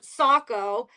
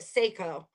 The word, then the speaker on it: Saco: say, it's just like in Maine, we have Saco, but anyone who's not from Maine calls it Seyiko. Seiko. Siri even pronounced it as Seiko.